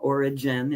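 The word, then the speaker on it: Origen: And Oregon is one of them. Origin, if you want to pronounce it that way, was one of those folks.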